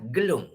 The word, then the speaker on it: gelung: Dia ada dua ejaan. Satu gelung L-U-N-G, satu gelung adalah L-O-N-G. Itu panggil gelong. Gelong maksudnya tak betul lah, gila.